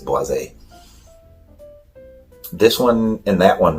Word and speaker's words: Boisé: the talk about the Cedrat Boisé, or Boise. It depends how you want to pronounce it, I guess. Boisé. I think it is Boisé.